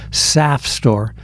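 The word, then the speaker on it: SAFSTOR: pronounce that that way it really should be pronounced saf store and saf runs with sap and I'm afraid that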